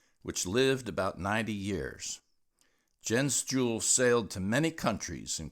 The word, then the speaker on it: Jens Juhl: lived about 90 years Jen's Jewel sailed to many countries and crossed the Atlantic and for the record her name in Danish means Jen's Christmas and is sort of pronounced yents you I learned that months